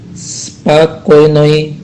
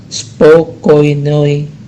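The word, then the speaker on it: спокойной: Dalam tulisan spakoynoi noci itu ada huruf O yang pertama, ya, huruf O pertama itu tidak diucapkan O, tapi diucapkan A, maka menjadi spakoynoi noci, ya. Hanya huruf O pertamanya diucapkan A, jadi spakoynoi noci, bukan spokoynoi noci, tapi spakoynoi noci.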